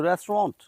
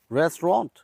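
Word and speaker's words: restaurant: আমরা অনেকে বলি রেস্টুরেন্ট এটা কিভাবে বলব সঠিক উচ্চারণ হচ্ছে রেস্টন্ট রেস্টুরেন্ট আমরা সবাই বলি usually comfortable I feel comfortable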